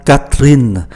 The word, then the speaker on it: Catherine: Chúng ta để ý, Catherine gồm có 4 âm tiết, nhưng mà âm tiết có cái chữ ơ cuối không đọc, và âm tiết có chữ ơ nằm giữa hai âm tiết khác cũng không phát âm, như vậy chỉ còn 2.